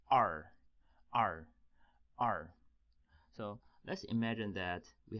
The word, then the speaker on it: 二: is pronunciation is o so er take together pronounces AR AR AR so to me ers pronunciation is similar to